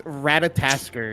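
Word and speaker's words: Ratatoskr: say the xg's name I I I always say to my team as R skater and it's not that it's it's ratat Tasker it's a uh squirrel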